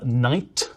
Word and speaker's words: knight: take the word uh Knight or no Once Upon a Time people genuinely did pronounce the k at the start of Knight they'd say k or